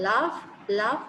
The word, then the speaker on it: laugh: You may say f as in calf, cuff, or f as in laugh, L-A-U-G-H, laugh. In the spelling there is no f, but in the pronunciation the sound is f in the word laugh, L-A-U-G-H.